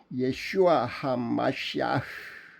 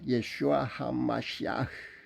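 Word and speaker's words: ישוע המשיח: 예슈아 하마시아, 예수 그리스도의 현대 히브리어 발음은 이렇습니다. 예슈아 하마시아.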